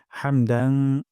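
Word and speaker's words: حمد: রব্বানা ওয়ালাকাল হামদ এখানে হামদু আছে এখানে আমরা ওয়াকফ করব অথবা হামদু পড়তে পারি তবে ওয়াকফ করলে সুন্দর হয় হামদ গলার মাঝখান থেকে হা উচ্চারণ করব রব্বানা ওয়ালাকাল হামদ আর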